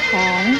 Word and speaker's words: 蓬: 蓬这个字的国语注音是蓬，二声蓬，泼蓬蓬，二声蓬。